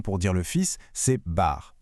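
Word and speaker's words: בר: Un autre mot très courant pour dire le fils, c'est bar. Prononcer bar.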